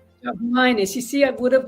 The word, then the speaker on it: Priscilla Jogminas: How do you pronounce your name? No, that's okay. It's Priscilla Jogminas. Jogminas.